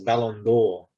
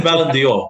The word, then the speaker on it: Ballon d'Or: Well, I believe the pronunciation is Ballon D'Or, which is a French translation for Golden Ball.